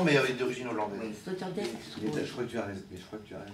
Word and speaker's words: Sloterdijk: Alors je confirme que c'est pas Sloterdijk en anglais, en hollandais, parce que j'ai un élève d'origine néerlandaise, Oui. dont le nom est Herwijnen. Et ça s'écrit IJ comme Sloterdijk.